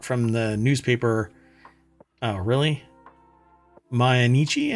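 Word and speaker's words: Mainichi: the newspaper oh really manichi I guess right cuz you you have to pronounce it like that my in my nii my nii yeah I'm going to I'm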